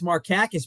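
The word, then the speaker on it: Markakis: he's not your cousin you don't even know how to pronounce his name and now you tell me it's marakis maybe that guy was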